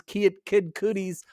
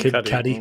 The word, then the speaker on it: Kid Cudi: Steve's Lava Chicken surpasses Kid Cudi's I'm pronouncing that wrong. Kid Cudi, right? Kid Cudi.